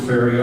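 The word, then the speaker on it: Farre: F-E-R-R-E and F-A-R-R-E were pronounced fairy also.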